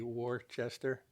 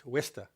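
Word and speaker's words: Worcester: h s r you would think it be Worchester it's wsta I thank you for helping with that pronunciation it helps to have some e Coast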